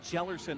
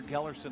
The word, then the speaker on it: Gellerson: The lineup here for Stephanie Gellerson. I'll apologize to her because I was calling her Gellerson all last year. It's pronounced Gellerson.